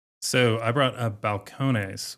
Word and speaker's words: Balcones: So, I brought a Balcones, which is a Spanish pronunciation, but it's actually from Waco, Texas, and it was the first bourbon distillery in Waco.